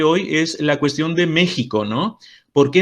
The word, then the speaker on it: México: es la cuestión de méxico no porque en méxico se escribe con x y xi pro viví porque lo pronunciamos como jota que también es una cuestión